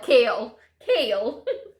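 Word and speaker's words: Chaol: Kale, like the vegetable.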